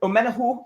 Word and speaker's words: Omenihu: drop back a little bit but but omen omena who as he as he pronounces it i think he's going to be